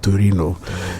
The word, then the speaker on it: Torino: So and um you go to other countries like I always mention Italy let's say Tin they will pronounce that Torino you know h there's always this bit of